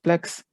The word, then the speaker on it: PLX: we used pharmacological agent called plx which that i will from now on pronounce as plex this is an inhibitor